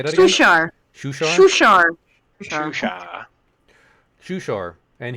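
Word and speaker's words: Shuushar: You guys tell me how you pronounce this because there's an extra U in here, and I don't know how to pronounce 2 U's in a row. Seriously? That's normal in Dutch. Damn. Shushar! Constant Shushar?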